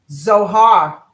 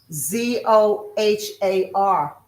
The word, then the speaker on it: Zohar: Zohar. Z O H A R.